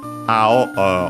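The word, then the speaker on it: 青: Ao on its own accent on the first syllable.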